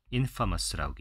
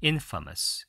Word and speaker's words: infamous: 그리고 강세는 앞에다 둡니다. 그래서 강세가 없어진 A 발음이 죽게 돼요. infamous라고 얘기합니다. infamous 이렇게 얘기해요. 이 삿갓 발음이었을 거예요. infamous.